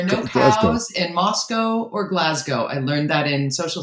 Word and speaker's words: Glasgow: clothes in moscow or glasgow i learned that in social studies so that goes back a long time there are no cows in glasgow or moscow it's not moscow it's not glasgow i'm trying to remember how